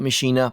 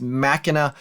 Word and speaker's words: Machina: base in Boom Beach I call it mishina but I know it's Machina or something along those lines this is listed in